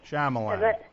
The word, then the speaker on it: Shyamalan: I can't pronounce his last name. Shyamalan.